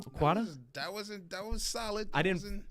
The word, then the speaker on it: Okwata: Let's give a wet detox welcome to Okwata. Is that how you say the last name? Okwata? That was solid. I didn't fully. The T could have been more of a ta.